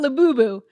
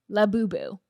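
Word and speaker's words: Labubu: This looks like a laboo.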